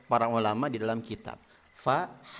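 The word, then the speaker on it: ف: Fa, ada nafas yang keluar. Ketika seseorang mengucapkan huruf fa tapi pa, berarti salah.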